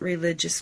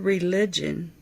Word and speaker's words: religio: from a Latin word which I am not really sure how to pronounce, but it is spelled R E L I G I O. So I'll try to pronounce it and say religio.